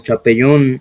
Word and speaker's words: Chapelon: Sí, esa se escribe Chapelon, como Chapellón. Sí. Chapelon, es una locomotora francesa.